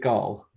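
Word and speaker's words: Gaul: trapped in a cage how do they pronounce his name in the audio book is it gal yeah oh yeah yeah one syllable nothing too crazy yeah this thing is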